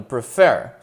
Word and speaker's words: prefer: A última sílaba é tônica, prefer.